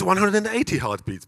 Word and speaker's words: 180heartbeats: don't it's like that it's the way you pronounce it oh so it's 180 heartbeats basically exactly it is so